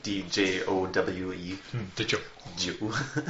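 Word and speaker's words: Djowe: Joe. The D is silent.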